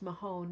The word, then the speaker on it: Mahone: Ted, I just say it's pronounced Mahone, not Mahoney.